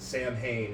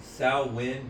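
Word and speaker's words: Samhain: a lot of movies get it wrong they pronounce it Sam Hayne and it always annoys the out of it what is it salmon s s it's pronounced sin sawin but there's an m in there yeah it's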